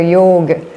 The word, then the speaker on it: yoga: In the in the south they pronounce the the last the last vowel. In the north they don't. So sometimes you will hear yog right.